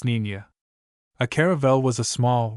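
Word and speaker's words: Niña: When finally ready, Columbus's little fleet consisted of three caravl, the Santa Maria, the Pinta, and the Nenina, pronounced Ninia.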